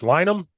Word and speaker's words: Linam: uh I'm gonna say your name wrong, so I apologize. Coach Linam. Did I say it right? Wow, one of few to get it right in the first try.